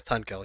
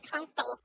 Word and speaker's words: Tunkill: thought you said Tunkle. No, his name is Tunkill. Tunkil. Tunkill. Okay. Although most Tunkill. people mispronounce his name all the time, so they call him Tunkle.